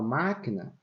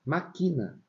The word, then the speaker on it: máquina: máquina e não maquina se eu não colocar acento na palavra máquina a gente vai ter que pronunciar maquina agora quando eu vou escrever eu sou obrigado a colocar um acento no ma na sílaba MA para dizer que essa sílaba é que é a sílaba forte a sílaba tônica E